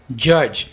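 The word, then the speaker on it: judge: है जर्नी सफर जज डी को यहां पर साइलेंट रखें जज मुनसिफ ही इज अ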